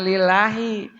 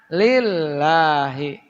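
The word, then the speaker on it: لله: attahiyatul mubarokatus shawatut thayibatu lillahi jangan lillahi lillahi tekan lillahi ya karena lafaz Allah itu lamnya disebut lam jalalah itu ada huruf tasdidnya watasdidu asalamu wahidun wahua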